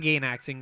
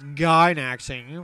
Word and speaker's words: Gainaxing: I swear she had some Gainax going on there. That's actually pronounced Gainaxing for you friggin' people.